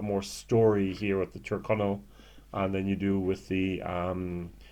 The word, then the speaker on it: Tyrconnell: I always said Tyrconnell, and it's Tyrconnell. That's the way the people in Ireland say it, at least. Tyrconnell single malt Irish whiskey, 16-year-old, 46%.